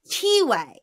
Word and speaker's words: Tiwe: And the way it is spelled, they gave you a phonetic. Oh. Right next to it. So I was like, oh, Tiwe. Okay. And for the next, like, 30, 40 pages, I kept saying Tiwe, Tiwe, Tiwe. Mm. Like, that's how it's pronounced.